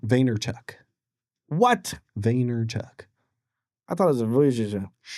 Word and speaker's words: Vaynerchuk: So how do you pronounce his last name? Vaynerchuk.